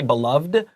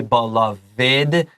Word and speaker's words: beloved: his beloved dog okay don't forget this pronunciation for beloved is special we we shouldn't say beloved we should say belid let's continue since blemy